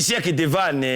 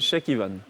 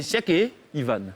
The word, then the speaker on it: Cheikh Ivan: Merci, Cheikh Devan. Merci. C'est Cheikh Ivan. Ah, c'est Cheikh Ivan.